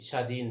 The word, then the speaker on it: স্বাধীন: এটা হচ্ছে ব ফলা, এর কিন্তু উচ্চারণ নেই। ঠিক আছে, লুপ্তভাবে ব্যবহার হয়েছে, গুপ্তভাবে ব্যবহার হয়েছে, এর ব্যবহার দেখা যাচ্ছে বাট উচ্চারণ নেই। স্বাধীন, স্বল্প, হ্যাঁ।